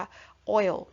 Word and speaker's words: oil: คะ โอ้ย นะ คะ ตัว นี้ ไม่ อ่าน ว่า ออย นะ อ่าน ว่า โอ้ โอ๋ ๆ นะ ฮะ Oil เยอะ ว่ะ นะ ฮะ จะ อ่าน สั้น ๆ เข้า ไป ว่า โอ้ว นะ คะ อ้อย นะ คะ